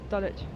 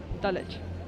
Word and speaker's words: Dulwich: Dulwich. Dulwich.